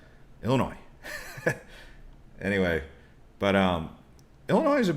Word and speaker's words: Illinois: They're like, the S is silent in Illinois. And I was like, I knew that, but I forgot it when I said it. I said Illinois. It's Illinois. Illinois.